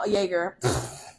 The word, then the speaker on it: Jaeger: Jaeger. Well, she spelled it Jaeger. I know, that's how it's spelled, but it's pronounced Jaeger.